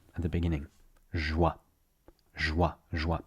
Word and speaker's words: joie: First, you want to say the word for joy, joie. Joie. So you just say wow, the English word wow. You cut it short.